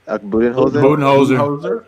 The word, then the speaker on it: Budenholzer: Budenholzer.